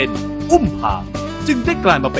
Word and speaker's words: อุ้มผาง: สุด ใน ประเทศ ไทย อุ้ม ผาง มา จาก คำ ว่า อุ พะ ที่ เป็น คำ เรียก กระบอก ไม้ ไผ่ สำหรับ เก็บ เอกสาร เดิน ทาง ใน ภาษา ปากกา กยอ ซึ่ง ต่อ มา ได้ ออก เสียง เพี้ยน มา เป็น อุ้ม พาง จึง ได้ กลาย มา